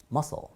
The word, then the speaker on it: muscle: 예, 실제 발음기는 이렇게 되더라고요. muscle.